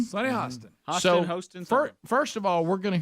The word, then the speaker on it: Hostin: Hostin. Hostin. Sunny Hostin.